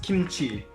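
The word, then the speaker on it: 김치: This one right here is pronounced ki. This one is pronounced m. This is pronounced ts. And if you combine that with this small letter over here, this Hangul, it's an H sound, like a ch. And this is E. So this is pronounced kimchi. Over here, this coincidentally is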